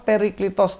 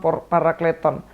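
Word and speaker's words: παράκλητον: Nah, alon parakleton ini yang dulu Nandar pernah bilang los periklitos dinomisu. Nah, itu. Padahal ini bacanya alon parakleton.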